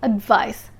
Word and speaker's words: advice: conduct advice and advice the sea of advice sounds like s advice advice and the s of advise sounds like a z advise advise advice is a noun